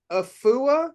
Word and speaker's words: Afua: excited to meeta um is it afua Richardson afua Richardson y I said it right good yep um Alex